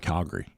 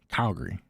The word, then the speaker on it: Calgary: But it's a lot of people here just call it Calgary. Calgary. Calgary, not Calgary. Calgary. That's said really fast.